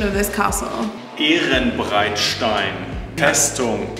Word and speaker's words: Ehrenbreitstein: Fabian, what's the correct pronunciation of this castle? Ehrenbreitstein Festung, Ehrenbreitstein.